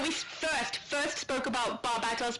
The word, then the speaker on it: Barbatos: Barbatos.